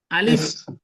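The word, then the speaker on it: ألف: তাহলে আলিফের যখন উচ্চারণ ওকে করবেন তাহলে উচ্চারণটা কিভাবে হবে শুনেন। আলিফ, এক নম্বর হচ্ছে আপনার তাড়াতাড়ি পড়তে হবে। দুই নম্বর হচ্ছে আপনার এফ এর উচ্চারণ করতে হবে শেষে। তাহলে উচ্চারণটা হবে আলিফ, আলিফ, আলিফ।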